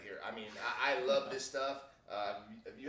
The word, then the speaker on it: Islay: of isla i mean you read it it looks like i lay or islay or whatever but proper pronunciation is i love uh they make some